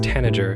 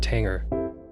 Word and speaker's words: tanager: are also raptors also this bird's pronounced tanager not tanger and this bird's pronounced